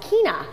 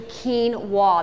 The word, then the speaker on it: quinoa: that is quinoa often those people want to pronounce quinoa is kin·a but it's actually quinoa that's the pronounced that's the correct pronunciation of